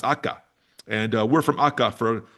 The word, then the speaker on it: Acre: About 10 minutes up the road is a place called Akka, or as Americans say, acre. But in Arabic, it's pronounced Akka.